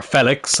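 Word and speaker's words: Félix: Or Felix, apparently is how you pronounce it.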